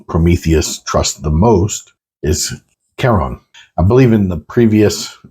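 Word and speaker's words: Chiron: trust the most is Kon I believe in the previous um video for episode 4 I mispronounced kon's name as Sheron sorry about that my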